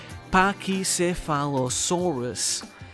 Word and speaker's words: Pachycephalosaurus: To help you out, it's pronounced Pachycephalosaurus.